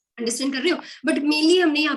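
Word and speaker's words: jojoba: लिखने में ये जोजोबा है, एंड प्रोनाउंसिएशन में इसको हम होबा कहते हैं, ठीक है।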